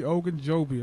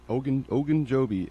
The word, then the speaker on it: Ogunjobi: Larry Ogunjobi. I'm surprised you pronounced that right. Ogunjobi, and this dude's a beast.